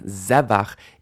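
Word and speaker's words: זֶבַח: With initial stress on the stem, zevach is the root of the word, which means a sacrifice.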